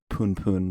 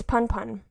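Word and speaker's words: Punpun: the case with this Poon Poon book that you're talking about. Is it Poon Poon or Pun Pun? It's Pun Pun.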